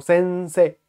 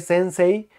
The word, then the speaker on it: sensei: única duda es si como termina en ei solo se dice que como sense que aunque se escribe sensei te dice solo sense así que sospecho que